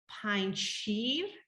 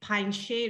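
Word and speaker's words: Panjshir: uh you know uh some people think it's pine sheen which it means five milk but it's pine shade is five lions so it's just with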